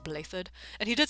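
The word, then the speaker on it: Blaiddyd: holy kingdom he said blathered it's welsh he said it i am dmitry alexandra blatant okay okay i just had to make sure i've been telling everybody i run into that's pronounced blathered and he did say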